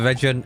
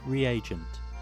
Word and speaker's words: reagent: Alright, I have the region. Is it the region? How do you say it? We'll find out. Region. Reagent. Never mind. Reagent? Never mind. Oh, yeah, it is reagent.